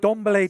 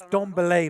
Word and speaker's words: Dembélé: I keep saying Dembélé, because I still don't know exactly how to pronounce his name. I believe it's Dembélé, but it sounds a bit pretentious saying it that way somehow. Dembélé is what they're calling him in the Catalan and Spanish press.